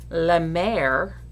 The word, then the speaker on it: la mer: ocean or the sea which in french would be pronounced la mer which almost sounds like which is my name